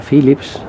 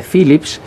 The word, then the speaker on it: Phillips: pero vamos a ver por qué se llama se dice phillips si se escribe phillips y entonces es cuando me explicaron que el ph era efe como es natural y que en todos los idiomas del mundo se podía leer con ph entonces éste toca adelantado